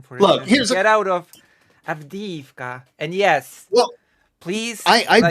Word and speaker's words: Avdiivka: It's even written with the E with the 2 dots in Ukrainian. Avdiivka. not Avdivka. Avdiivka.